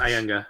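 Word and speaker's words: Ayanga: Yes, Ianga. Okay. Sorry, I was like, wait, that's not how you pronounce it.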